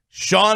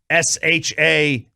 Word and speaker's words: Shan: I said Sean and RJ, and I wrote in parentheses pronounced SHAWN.